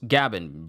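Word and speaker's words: Gaban: like the sound effect no Gavin g a b a n and it's not scooper it's scoer it's scoer scoer gabin okay let me get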